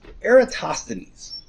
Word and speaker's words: Eratosthenes: his time um is a guy named it's pronounced eratosthenes and he's a little bit after aristarchist time